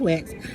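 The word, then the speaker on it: Wachs: The founder of the comic strip in New York City, Wax, pronounced Wax, had discovered Eddie Murphy and Bob's other clients, Arsenio Hall and Chris Rock, were bursting onto the entertainment scene.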